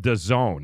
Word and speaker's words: DAZN: It's called DAZN. That's how it's pronounced.